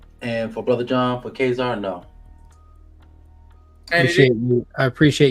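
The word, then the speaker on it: Ka-Zar: before 1977 no and for Brother John for kesar no appreciate you I appreciate you pronouncing that right not a problem Kazar Kazar um so it's 78 85 correct and it's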